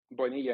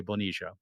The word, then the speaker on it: Bonilla: Bonilla, Or he I has, won't forget. as they say, other people like to say Bonilla, but in Costa Rica it's pronounced Bonilla, Bonilla.